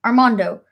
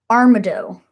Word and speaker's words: Armado: Arm, Arm, have I been saying Armando this whole time? It's Armado. I've been saying it wrong this whole time.